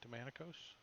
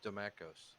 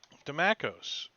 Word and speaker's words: Damakos: Is that how you say it? Demonicos? Hello? Sorry, I forgot I was on push to talk. No, it's Damakos. Demacos.